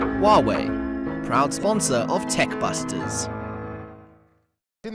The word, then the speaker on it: Huawei: What's the correct pronunciation? Hauwei, Aki.